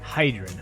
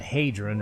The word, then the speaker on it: Hydron: Hydrron, huh? So, that's how I pronounce it. Okay. I would have called it Hadron or Hedrin, but sorry for the wait.